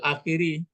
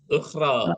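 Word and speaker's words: الأخرى: Bukan alal akhiri. Alal ukhro. Hah? Lainnya Pak. Alal ukhra. Ukhra. Nah, ini ke atas barisnya.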